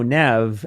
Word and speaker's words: Neve: And so, um, we just thought, "No, Nev." And so, Neve is so clean. And then so many people are like, "Oh, after Nev Campbell." And I'm like, "No, but I love Nev. Campbell. She's great." But we were trying to do that Nevve thing, but we wanted it to be Nev.